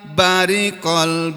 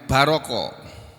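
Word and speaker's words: بَرِقَ: Iza, apabila barikol basor. Bariko, sebagian qari membacanya baroko, dan itu dua-duanya benar dan artinya sama. Jadi ada yang baca bariko, ada yang baca baroko.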